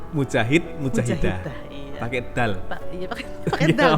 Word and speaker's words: mujahidah: Coba diucapkan? Mujahid, mujahidah.